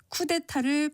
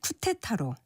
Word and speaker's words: 쿠데타: 남유럽에 있는 나라 포르투갈을 포르투칼이라고 발음한다든지 쿠데타를 쿠테타로 그리고 타깃을 타켓으로 발음하려고 하는 이치와 같은데 모두 거센 소리로 발음하지 않는 것이 맞습니다.